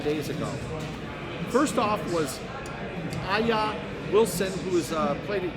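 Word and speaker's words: A'ja: First off was Aya Wilson, who is played at University of South Carolina. It's either Aja or Aya.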